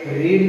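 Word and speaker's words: read: अब रीड की third form रेड होती यही है, उच्चारण में दूसरा हो जाता है।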